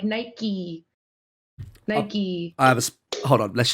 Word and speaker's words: Nike: when you say no you guys say Nike where's the waters there's no y on the end of Nike Nike where's the wild knee